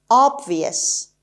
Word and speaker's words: obvious: for today's lesson is obvious obvious obvious the stress is on the first syllable or obvious and it's